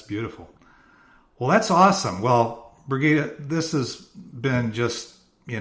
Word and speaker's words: Brigitta: i g TTA a brigita think Sound of Music and then the last